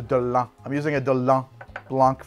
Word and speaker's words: Dolin: I've heard it's been pronounced Dolin, It's a Delon.